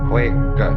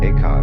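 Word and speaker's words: 慧可: Huike in Chinese. Eka is Japanese pronunciation, like Zen is the Japanese pronunciation of the Chinese Chan.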